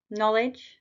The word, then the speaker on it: knowledge: got a silent w knowledge silent k doubt silent B chemist